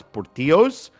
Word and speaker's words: Portillo's: make it more Americanized, so it is pronounced Portillo's, and it is a conscious choice by the owner, according to the lore.